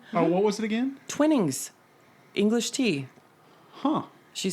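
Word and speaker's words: Twinings: Twinnings? Is that right? Yes. Twinnings. Twinnings? Mm-hmm. Can you spell that?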